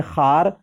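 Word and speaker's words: خوار: Option है खार, ये जो है खवार लिखा हुआ है, इसको भी पढ़ेंगे खार पढ़ेंगे। यहाँ पर वाव जो है वो वाव मादुला है, यानी वाव जो है वो साइलेंट है। क्या है, वाव साइलेंट है।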